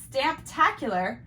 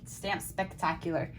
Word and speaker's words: Stamptacular: You said it wrong last week. It's Stamptacular. What did I say? You said Stamp Spectacular, but it's Stamptacular.